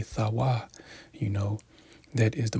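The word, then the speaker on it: תו: strong H 8420 which the correct Hebrew pronunciation would be thawa you know that is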